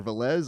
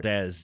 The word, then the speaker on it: Valdez: You've also got Anthony Molina Valdez or Valz, I'm so sorry. Valdez, don't make that mistake. He let people know today, he is not happy if you get his name wrong.